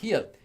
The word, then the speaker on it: 히읗: This letter is pronounced 히읗.